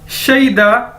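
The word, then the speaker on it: 谁的: तो इसी से हम शई से नेक्स्ट वर्ड बनाएंगे अपना शईदा, यानी हुज।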